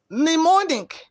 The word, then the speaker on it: mnemonic: pneumonia p is silence m n in mnemonic letter m is silence how do you usually